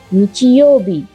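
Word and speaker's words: 日曜日: দ্বিতীয় কাঞ্জিটি দেখতে পাচ্ছেন, যার মানে দিন বোঝায়, আর এখানে এর উচ্চারণ হয় বি। এবার দেখি সপ্তাহের 7টি দিনকে কি বলে। রবিবার হলো নিচিয়োবি।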